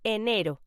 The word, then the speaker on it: enero: January, in Spanish, is pronounced enero.